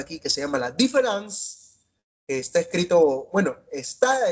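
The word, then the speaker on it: différance: Es una palabra nueva que inventa, pero sí se pronuncia igual que la palabra diferente en francés.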